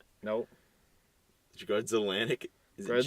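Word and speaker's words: Grudzielanek: Grudzelanik. Is it Grudza. J? No, it's an E. So it's I-E? no. Yeah, it's Oh my goodness. Z-I-E. It's pronounced Z according to the pronunciation key here.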